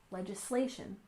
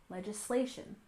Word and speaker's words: legislation: and finally we have legislation with stress on the third syllable legislation legislation which refers to laws